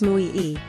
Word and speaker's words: muy: meaning of your words pronounced as Mu e this little Powerhouse can